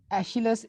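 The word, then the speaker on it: Aeschylus: उसके बाद ये जो इरा है एशिलस, इसको एस्किलस भी कहते हैं और एशिलस भी कहते हैं, दोनों प्रोनाउंसिएशन है।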